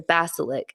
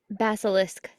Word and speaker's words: basilisk: none more curious or more deadly than the Basilic. Is that how you say it? Basilic. Basilisk.